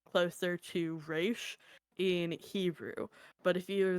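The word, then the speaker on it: Ra's: and the name it the Arabic pronunciation would be closer to Ras so like technically both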